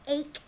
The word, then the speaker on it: ache: E at the end, because you do not hear that E, we have some little houses, some little bird houses. We have ache, ache, A-K-E is ache, aim, like in our